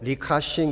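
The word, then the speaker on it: 李嘉誠: 층이 라고 하는 분입니다 중국 발음으로 리카싱 이라고 발음을 합니다 홍콩 최대 기업인 성큰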